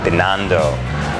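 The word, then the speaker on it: Binondo: around the uh manila's Chinatown how do you pronounce it again bando bando yeah he's a good tour guy yes thank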